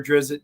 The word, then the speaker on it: Drizzt: I've got most of them, except I couldn't get my hands on the Dritz one, or Drizzt, depending on how you pronounce it.